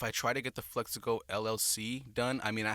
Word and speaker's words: Phlexico: It's spelled differently, but I mean, like the pronunciation of it is the exact same thing. So they're Phlexico with an F. So Phlexico, like Flexico.